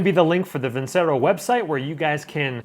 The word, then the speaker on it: Vincero: You did come here for the new, I'm gonna pronounce the company's name with a little bit of an accent. You gotta have a little flair to it, is the Vincero, V-I-N-C-E-R-O, Vincero watches, but they don't just have watches.